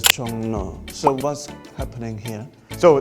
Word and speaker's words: 종로: So it's written as Jongro, but a lot of people pronounce it as Jongno.